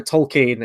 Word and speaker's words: Tolkien: the trailer and moving his teacher originally calls him Tolkien and then he has to correct him on that but I don't know there's probably loads of pronunciations but no Tolkien is the way it's pronounced so yeah I mean